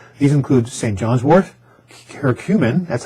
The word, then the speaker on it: curcumin: John's wort, curcumin, that's how you pronounce it, which is the active ingredient in turmeric, and rhodiola.